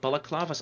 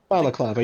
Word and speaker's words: balaclava: those under like bullet bullet clovers i'm going to look at how you pronounce it now balaclava you're right is it shows how